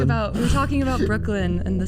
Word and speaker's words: brookelen: We were talking about We were talking about Brooklyn and the spelling and the name. Um, cuz you go B R O O K E L E N, right? That's correct. Brooklyn, but spelled like the burrow, like Brooklyn Bridge.